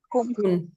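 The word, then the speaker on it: Kuhn: Ay, no me sale pronunciarlo. Kun kun es k u h n kun.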